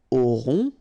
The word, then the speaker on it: aurons: Nous aurons, final S not pronounced, O and N together, nasal, on, A-U-O, auront, alright.